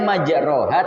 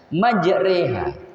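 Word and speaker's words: مجراها: Tulisannya majroha tapi bacanya majreha.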